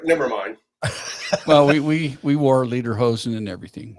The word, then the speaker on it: lederhosen: well, we wore lederhosen and everything. Later, hoser. You did it up right. Yeah, That's the only way I could learn how to say it was say later, hoser.